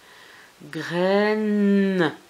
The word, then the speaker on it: graine: Aïe, ensemble, ça fait E. Graine, N, c'est le N et le E muet.